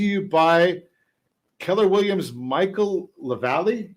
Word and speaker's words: LaValle: I look at his name. I don't know why it's so challenging for me to remember how to pronounce it, but I think I pronounced it I put the emphasis on every syllable since we've been showing his properties here.